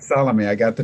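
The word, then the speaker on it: Salomé: That's right, Salome. I got the name wrong.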